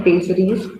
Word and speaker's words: pessaries: इसकी प्रोनाउंसिएशन करनी है पेजरीज, PESSARIES.